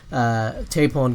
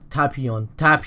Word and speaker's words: Tapion: Goten asks Trunks if he can hold the sword Tapon gave him, or however you pronounce his name. But yeah, Tapion, that's how you pronounce it.